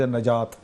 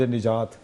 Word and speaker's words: نجات: کرنا ہے۔ ایک لفظ نجات، ایک لفظ نجات ہے نا، تو ان چیزوں کا فرق کر لے کہ نون کے اوپر زبر ہے کہ نون کے نیچے زیر ہے، یہ اس